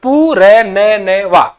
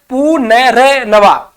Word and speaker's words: पुनर्नवा: क्योंकि आप जब उच्चारण करोगे तो ये देखो क्या बन रहा है, पुनर्नवा है ना, पू फिर र का उच्चारण, पू र न वा है ना, इस प्रकार ही गलत है। लेकिन शुद्ध शब्द में क्या उच्चारण, पू न र नवा, पुनर्नवा।